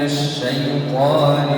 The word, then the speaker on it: الشيطان: هيا بنا جميعا نقول: أعوذ بالله من الشيطان الرجيم. عندما أنطق كلمة الشيطان لابد أن أفتح الفم هكذا، الشيء أعوذ بالله من الشيطان الرجيم.